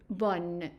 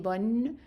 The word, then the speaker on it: bon: a little bit different, meaning that we don't pronounce the N, so we pronounce it bon, bon.